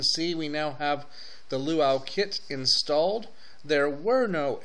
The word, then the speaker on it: Lua: or luit I'm sorry I don't know why I want to call a luau it's not really a luau it's a Lua and as I said